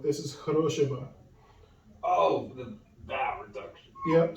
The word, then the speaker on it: хорошего: This is not Horoshivo, this is Horoshiva. Oh, the vowel reduction. Yep, so the stress is on the second O, so Horoshiva.